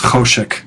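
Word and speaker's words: חושך: Notice that these words like lechem and choshek and chesed are referred to as segolits, and they're accented on the first syllable.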